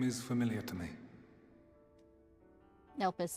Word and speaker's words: Elpis: Elpis is how you say it. Oh, I say Yet ellipse.